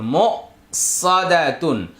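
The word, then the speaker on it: مؤصدة: মিম হামজা পেশ মো, এখানে ওয়াওটা সাইলেন্ট থাকবে, উচ্চারণে আসবে না। সদ জবর স, দাল জবর দা, সদা তা দুই পেশ তুন, মো সাদাতুন, মো সাদাতুন।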